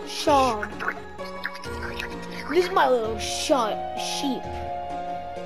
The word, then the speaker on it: Seam: The name is Seam. Pronounced Sean.